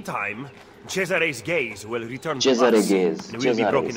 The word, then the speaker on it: Cesare: Cesare gaze. And we'll be broken again. अच्छा Cesare. मतलब मैं सीजर इसको प्रोनाउंस कर रहा था क्योंकि he should have already intercepted the letter.